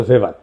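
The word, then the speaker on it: Weber: আর একজন দার্শনিক আছে ম্যাক্স ভেবার, এটা ওয়েবার বলে অনেকে, এটা উচ্চারণ আসলে ভেবার।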